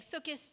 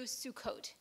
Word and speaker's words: Sukkot: in their pronunciation so saying from saying so kiss to Sukkot and this had to